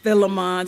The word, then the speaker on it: Philemon: others are Philippians and Philemon or Philemon some people say it like that but um this